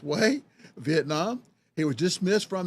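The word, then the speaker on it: Huế: him to several revolutionaries who went on to attend and National Academy in way I know it looks like it says who there but it's pronounced way Vietnam he was dismissed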